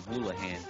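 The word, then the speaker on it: Houlihan: for some reason like I always pronounce his last name hulahan like the freaking uh what was his name patches o hulahan who yes it is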